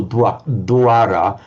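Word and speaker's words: dvāra: consonant like swa or dwara, then it comes out like the English were, dwara, meaning, for example, a door.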